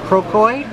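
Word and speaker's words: crocoite: so just in full calcite foreign oh wow Beauty thank you so here is croquet I believe it's pronounced yep and this is from Tasmania wow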